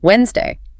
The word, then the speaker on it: Wednesday: sound and time round, they ask about that silent letter in the day of the week, Wednesday. W D N E S D A Y. If you write it, you see the D.